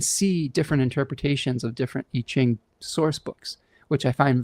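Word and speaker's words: Yijing: It's called I-Ching. And I don't know, I've been using it for over a decade. It's spelled Y-I-J-I-N-G.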